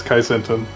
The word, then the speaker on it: Kaizenten: yeah, you're pronouncing it correctly. It is Kaizenten.